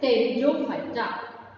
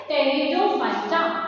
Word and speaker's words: Pteridophyta: Next we have our division that is pteridophyta. Yes, students, now we have our third division of kingdom plantae, that is pteridophyta. P is silent.